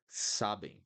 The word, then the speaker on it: sabem: Sabem. They know. Sabem, sabem. So you just pronounce the M and leave it there. Sabem. You don't close your mouth to pronounce the M.